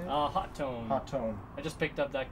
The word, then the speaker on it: Hotone: Hotone.